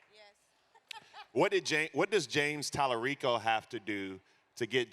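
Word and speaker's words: James Talarico: Did I pronounce his name right? Yes. What does James Tallarico have to do to get Jasmine Crockett out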